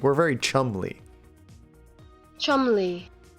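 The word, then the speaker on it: Cholmondeley: I didn't think there would be an M in there, but there is. Chumley. And an O is more like a U.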